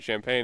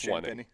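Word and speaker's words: Champagnie: Champaign had 22. Wembanyama had 20. It's Champagne. Sorry. It's spelled like champagne.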